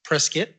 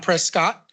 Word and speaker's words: Prescott: And also would like to credit you for in in my life to a certain degree for helping me to correctly pronounce Prescott. It's not Prescott.